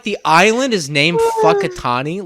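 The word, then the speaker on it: Whakatāne: i was like uh that's pronounced wakatani right and she was a a maori woman and she goes uh oh no actually it is pronounced fuckitani and in the middle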